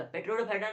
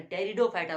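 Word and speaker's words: Pteridophyta: टेरिडोफाइटा, टेरिडोफाइटा, पेट्रोडोफाइटा नहीं, बहुत को बोलेगा पेट्रोडोफाइटा, क्योंकि वहां पे पी लिखा रहता है, क्योंकि पी साइलेंट रहता है, टेरिडोफाइटा बोला जाता है उसको।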